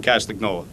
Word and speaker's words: Castagnola: At this time, it gives me great pleasure to introduce Kevin Castagnola. Got it right? Yeah, you got it. You had to get the German to say it correctly.